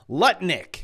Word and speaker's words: Lutnick: Commerce Secretary Lutnick, which rhymes with Lick, just confirmed that the Trump administration is looking to abolish the IRS.